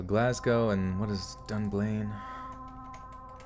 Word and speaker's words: Glasgow: in soothing sound waves absolutely Glasgow or glad go let's go Glasgow okay so Glasgow and what is done